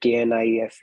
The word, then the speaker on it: knife: They said KNIFE is knife, not knife. We accepted it. Okay, K is silent.